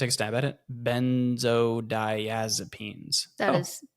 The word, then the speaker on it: benzodiazepines: Benzodiazepines.